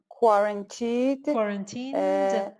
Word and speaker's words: quarantine: I know there are crafty, quarantined. Pronounce the N. Quarantine.